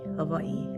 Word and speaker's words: Hawaii: Havaii, as Hawaiians pronounce it, Hawaii.